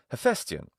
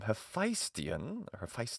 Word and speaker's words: Hephaestion: and pronounce his name Hephaestion or something, with the AI spelling, meaning alpha iota. in ancient Greek. Now, in ancient Greek, this diphthong is alpha iota, and it's pronounced ai in classical Attic.